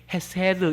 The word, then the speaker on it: 헤세드: 예, 발음도 이렇게 헤세드 이렇게 혓바닥을 이렇게 하면서 이렇게 발음하는 것이다 그러면서 그 헤세드라는 단어를 그 말씀을 하셨는데 여기서 원어적인 의미로 인자가 헤세드라고 그렇게 이야기합니다.